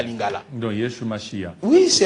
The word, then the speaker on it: Yeshua: point monsieur les journalistes, dans le monde entier la seule langue qui a gardé la vraie prononciation c'est à lingala. Parce que lingala on l'appelle Yesu Massia. Donc lorsque vous ajoutez entre Yesu Massia H a donc vous allez lire Yeshua Masia.